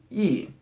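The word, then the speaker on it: 亿: on the left side this is pronounced e with a fourth tone and it means one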